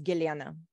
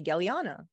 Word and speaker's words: Gellyahnah: me Galiana right because so my birth name is giliana and Americans can't pronounce so when they try to say back they say galliana and when I was